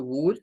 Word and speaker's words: would: O sea, se resume a la consonante inicial, un sonido U, muy corto como una U corta, no es la U del español, es U, y un sonido D.